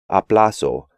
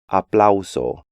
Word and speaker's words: aplauso: In English, the AU combination is often just pronounced A, which makes English speakers want to pronounce these words like aplauso, audio, and autor, when they should be aplauso, audio, and autor.